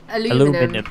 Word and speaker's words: aluminum: way a lot of people say different like a lot of the American kids say was it aluminum yeah and we say aluminium in race of the Moon